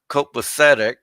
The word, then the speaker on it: copacetic: Frank, it's expletive and copacetic, not extra syllables.